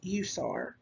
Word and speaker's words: USAR: separately example emt um an acronym forms a word example is urban search and rescue or usar which is pronounced usar an abbreviation is still